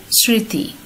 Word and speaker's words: স্মৃতি: কালি দিয়ে লিখেছিলাম সানুনাসিক হবে উচ্চারণটি, যেহেতু মফলার উচ্চারণ নেই সে কারণে কিন্তু আমরা চন্দ্রবিন্দু ব্যবহার করেছি। তেমনিভাবে শ্মশান। তারপর রয়েছে স্মৃতি।